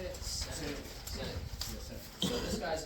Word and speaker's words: Sinek: Sinek.